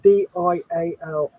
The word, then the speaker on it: Diall: Yeah, he used what's called, it's spelled DIALL. Dial.